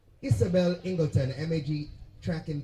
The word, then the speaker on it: Isabel: My name is pronounced Isabel. Isabel. No, Isabel.